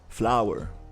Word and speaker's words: flour: Flower. So it sounds like a plant, but it's not the plant.